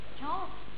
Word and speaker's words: kağıt: G'yi zaten okuyamıyoruz ki bunun doğrusu yumuşak G burada kağıt kağıt dediğimiz zaman yapmacık oluyor Aslında kağıt diye bir